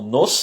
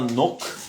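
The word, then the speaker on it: нос: La lettre C, comme on a vu dans nos d'ailleurs, donc pour la quatrième exemple, c'était un exemple. Donc un exemple, on dit un exemple. Donc pour le quatrième exemple, donc c'est nos, c'est pas nok, c'est nos.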